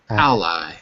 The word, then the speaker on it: ally: Ally Ally al Ally Ally with with the stress on the first syllable like this Al alliances Ally oh